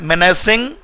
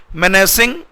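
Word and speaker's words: menacing: इसका सिनोनिम में होता है मेनेसिंग या फिर थ्रेटनिंग। मेनेसिंग, इसका प्रोनाउंसिएशन ध्यान सुन लीजिएगा, मीनेसिंग नहीं है, मेनेसिंग या फिर थ्रेटनिंग।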